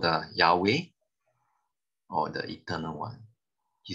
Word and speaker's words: Yahweh: h w h is you cannot pronounce because there's no vowel so what do they do they add vowels so that it can be pronounced so the name of god is actually called yahweh okay or jehovah in